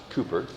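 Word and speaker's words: Cowper: the so it looks like cper but it's pronounced Cooper his mother died when he was six and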